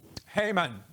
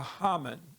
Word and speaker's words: Haman: The name of this man is Haman, or Haman. You can pronounce it either way, and I may slip from one to the other, so don't worry about that.